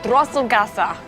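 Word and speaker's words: Drosselgasse: this little street called Drossel gasa am I saying it right and perfectly the Trostle Garces you can see Severn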